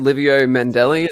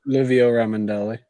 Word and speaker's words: Livio Ramondelli: We had Livio Mandelli. Is that how you say his name, Tyler? Livio Ramondelli.